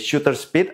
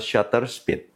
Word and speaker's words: shutter speed: vifinder ingat view findinder Shut speed sering terucap sebagai Shooter speed atau Shooter Speed yang benar adalah shutter speed vocal length sering diucapkan